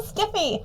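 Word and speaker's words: SCIF: sometimes write phonetically a sensitive compartmented information facility pronounced skiff yeah wow so I write it the way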